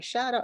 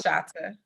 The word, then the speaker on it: Shata: Miss Shada. Am I saying your first name right? Shada or Chada? I always It's Shata. It's Shata, pronounced great. two ways, Shata and Shada.